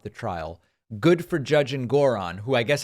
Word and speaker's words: Engoron: Good for Judge Engoron, who I guess I've been pronouncing his last name Engoron incorrectly. Apparently it's Engoron.